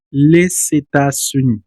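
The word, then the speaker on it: les États-Unis: Aquí sí vamos a pronunciar la s final porque hay una vocal adelante. La pronunciación sería leetas.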